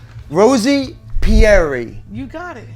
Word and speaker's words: Pierri: Rosie, and I love your last name, Pierri.